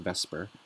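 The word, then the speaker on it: VSEPR: So in your textbook, this is pronounced VESPR, and it stands for valence shell electron pair repulsion.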